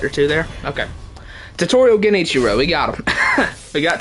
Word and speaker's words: Genichiro: Like, people pronounce the R's like with a typical like Japanese, like they say Genichiro, like that. But I'm an English speaking guy, so I pronounce it as Genichiro.